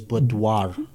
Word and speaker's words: boudoir: I found out the correct way to pronounce it is boudoir. You actually say the R.